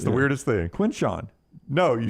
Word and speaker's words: Quinshawn: You even spell it right and say it wrong. It's the weirdest thing. Quinshawn.